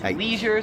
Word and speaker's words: leisure: 20 is leisure, so me and like every American pronounces it leisure.